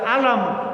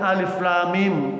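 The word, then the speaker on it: الم: Padahal cuma ngajarkan satu ayat tentang jangan baca alam, bacanya alif lam mim gitu.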